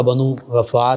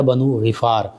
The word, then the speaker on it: بنو غفار: ہیں۔ قبیلہ آپ کا بنو غفار یا بنو غفار، دونوں پروننسیشن جو ہیں، دونوں تلفظ جو ہیں ان کے ساتھ بولا جاتا ہے۔ عربک کے کئی